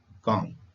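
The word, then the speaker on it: calm: हो जाते हैं जैसे काम सी ए एल एम कॉम कम का होता है शांत इस स्पेलिंग में एल का उपयोग हुआ है परंतु उच्चारण में ल लुप्त है पाम पी ए एल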